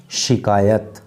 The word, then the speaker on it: शिकायत: एक तो होता है शिकायत, एक बोल रहा है बंदा शिकायत, एक बोल रहा है शिकायत, तो सही क्या है, शिकायत, यानी कि से नहीं शय, तो शिकायत।